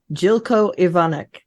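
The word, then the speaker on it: Zeljko Ivanek: you pronounce his name Jilko Ivanek. Ooh, Okay, Jilko Jilko Ivanek. Ivanek.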